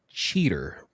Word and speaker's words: Cheetor: Um, Derek, if I make may make a correction here as a new Beast Wars fan here, I believe it's pronounced cheater.